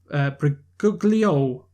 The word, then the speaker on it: Briguglio: Salvatore Briguglio. Wait, is it like it sounds like Daniel Brigoli, the remember Cash Me Outside? Yeah, but it's not spelled like that.